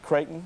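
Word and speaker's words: Creighton: uh you've got a Bachelor of Science from kraton University out of U I hope I pronounced that right is that right kraton that's correct kraton University out of Omaha Nebraska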